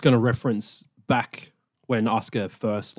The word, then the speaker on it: Asuka: I was unfortunately pronouncing it as Oscar, where it's Asuka. Asuka. But it's definitely not A-soo-ka.